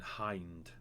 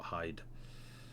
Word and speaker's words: Serenian Hind: Just so you know, Ed, it's Serenian Hind, Hind, not Hyde.